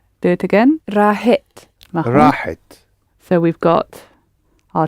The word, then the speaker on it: راحت: pronounce the h in the middle. Rahit. That's it. Think of hit. راحت. Do it again. راحت.